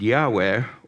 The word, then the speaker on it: Yahweh: represents the four letters YH Wy it's usually pronounced Yahweh or adoni the Lord God we learned that